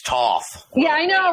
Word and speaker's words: Thoth: I can't talk about Thoth. probably even said it wrong. Somebody will be like, well, actually, you say it like this, Yeah, actually, it's Toth.